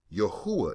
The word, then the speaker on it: Yahuwah: Yahuwah is what we pronounce this from Yad, Hey, Wah, Hey. We get Yahuwah.